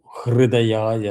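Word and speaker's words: हृदयाय: H R U Hrudayaya Namaha heart.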